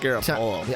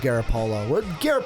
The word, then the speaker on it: Garoppolo: I think it's pronounced Garoppolo. I love Garoppolo. Garoppolo, tomato, however you want to say it.